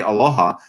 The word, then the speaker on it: aloha: It's actually two syllables, and the syllables alo, which means really to give, and then ha means life. So when you say aloha, and what it actually